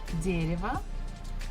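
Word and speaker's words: дерево: that is a tree dereva stressfuls on the first syllable so the first syllable we must pronounce as it is but next one Ria is not stressed so we can change it into e woo also not stressed you can change it into a so it will be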